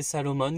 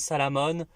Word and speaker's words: Salomon: durant tout le film ne sait même pas prononcer Salomon qui le prononce Salamon euh sarouar tu es